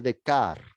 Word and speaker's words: Descartes: filósofo francés llamado rené de kart se escribe descartes pero en francés se pronuncia rené de karts de kart estudió en un colegio